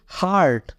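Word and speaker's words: heart: यह कहता है कि अगर किसी शब्द में ई के तुरंत बाद ए आर आए तो ई का उच्चारण नहीं होता इसलिए हम इसको पढ़ेंगे हार्ट क्या पढ़ेंगे हार्ट मींस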